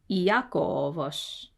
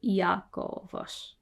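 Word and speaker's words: Ἰάκωβος: Iakovos. Iakovos. Whenever there's an initial iota, it's always a separate syllable. Iakovos.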